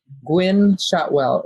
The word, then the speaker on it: Gwynne Shotwell: together she is really really an amazing woman gwynne shotwell is her name it's spelled g-w-i-n-n-e shotwell and uh if you don't